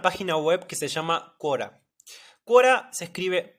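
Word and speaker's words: Quora: a usar una página web que se llama cuora cua se escribe q u o r a esta página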